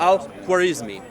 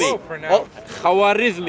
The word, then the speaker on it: al-Khwarizmi: a long name, Abu Abdullah Muhammad ibn Musa al-Khwarizmi. Also known as Khawarizmi. It's okay. It's badly pronounced.